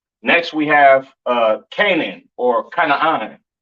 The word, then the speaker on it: Canaan: This is pronounced Canaan, all right?